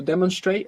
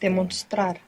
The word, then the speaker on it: demostrar: How was to demonstrate again? Demonstra. Demostrar. And what happened to that N?